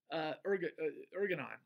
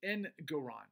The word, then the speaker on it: Engoron: Like I said, Ergonon, or however to pronounce his name. Let's take a look if I can. What the hell is his name? It's Engoron. Sorry. Judge Engoron. I've heard it pronounced Engoron.